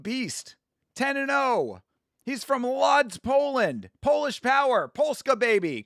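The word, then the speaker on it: Łódź: HE'S FROM LODS, POLAND. POLISH POWER. PULSKA, BABY. Come on. Let's see if Pska can pull it off over here. It's pronounced woots.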